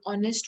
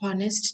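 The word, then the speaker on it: honest: कि आवर को हम हावर नहीं कहेंगे, ऑनेस्ट को हम हॉनेस्ट नहीं कहेंगे. We would pronounce it as voiceless H, यानी उस H की आवाज नहीं है.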